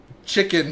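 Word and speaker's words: Tchikin: Chicken Stroenov. Spelled with spelled T C H I K I N. I think chicken.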